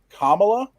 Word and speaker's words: Kamala: like president how do you say her name kamala i believe that's correct yeah um future president